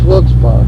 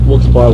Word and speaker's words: Wilkes-Barre: It's Wilkes-Barre. Wilkes-Barre, Wilkes-Barre, either pronunciation, however you want to say it.